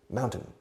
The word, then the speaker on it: mountain: Fijaos en la pronunciación de mountain. Mao, como el dictador chino, o como la cerveza española, cerveza Mao. Mound, añades un N, mound, y luego el número 10, 10, mountain.